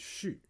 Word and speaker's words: 蓄: So with that meaning, it pronounced as 续.